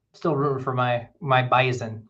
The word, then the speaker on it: Bison: rooting for my my bison you don't call them bison for some reason in North Dakota they're called Bison up there with the it's spelled with an S but said with a Z still going to be